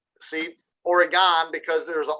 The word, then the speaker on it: Oregon: I know I got some in Multnomah Falls in Oregon. See, Oregon, because there's an O in it, and it's not an I in it.